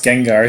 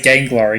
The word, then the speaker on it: Gengar: had to stop and think of how to pronounce Gengar so I wouldn't say gangwar again yeah to be